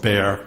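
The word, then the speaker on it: Bexar: chief medical examiner of beay County Texas and for the transcriber bear is spelled be XA R the exas silent um so I was chief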